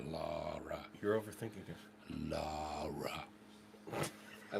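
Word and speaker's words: Lahra: It's what it's spelled. L-A-H-R-A. Laura.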